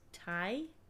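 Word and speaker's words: Tiye: Yeah, I can pronounce the next one. It's Tai. Kingdom 18th Dynasty, Chief Queen, circa 1382 to 1344 BC. The great royal wife of Amenhotep III, Queen Tai was praised for her beauty.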